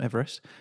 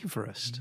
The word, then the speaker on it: Everest: So number 1 is Mount Everest. That's in Nepal, in the Himalayas. Everyone pronounces that incorrectly, as you'd well know.